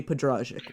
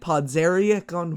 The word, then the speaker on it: Podrazik: beetle fest please welcome day J Padraic welcome defense on the run thank you so much and thank you for pronouncing the last name correctly so my hats